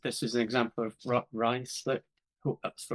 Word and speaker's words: Ruislip: So what you can see here is this is an example of Ruislip. Hope that's the right way to pronounce Right it.